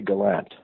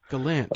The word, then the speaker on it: Gallant: Is it Gallant or Gallant? Around here, people say Gallant. Gallant, okay. But if you said it in French, Acadian French, it would be Gallant. And it gets various pronunciations, and it's not a big deal.